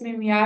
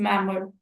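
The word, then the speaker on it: memoir: इट्स not pronounced S मेमिया। इट is pronounced is मैमर।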